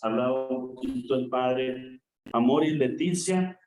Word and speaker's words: Amoris Laetitia: Entramos, hermanos, a este primer capítulo de este documento del que ya nos hablaba un poquito el padre Amor y Leticia, así se dice o así se pronuncia, y podemos traducirlo como la alegría del amor.